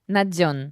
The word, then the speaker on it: Nadzion: and by the way naion is spelled just so everybody gets this r n a d z i o n literally like Zion at the end naion but we say saying it correctly cuz you talked about this yesterday and how Europeans and versus ukrainians say it the proper way nadon nadon yes the zone of